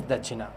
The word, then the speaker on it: Dachina: So in Trinidad Bhojpuri, correct pronunciation is Dachina.